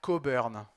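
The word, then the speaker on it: Cockburn: C'est Alister Cobern. C'est comme ça que ça se prononce.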